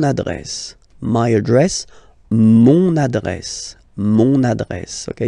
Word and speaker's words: mon adresse: my address, mon adresse, mon adresse. Okay, you can hear now this little link, so you get to pronounce this N, mon adresse, okay?